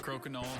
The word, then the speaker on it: crokinole: Crokinole has just that pronunciation, crokinole.